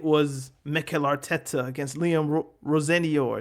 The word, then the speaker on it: Rosenior: But now, when Chelsea play Arsenal, it was Mikel Arteta against Liam Rosenior. It's just like, I want to say Roy Sr. so badly, but I know that's not the correct pronunciation.